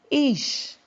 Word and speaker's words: ish: It's number 376 in the Hebrew and Chaldee dictionary, pronounced ish.